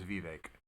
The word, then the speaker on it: Vivek: more American name if you want me to pronounce it right nah that was a joke I'm kidding I'm kidding his name is Vivek I will say Vivek um I'm just playing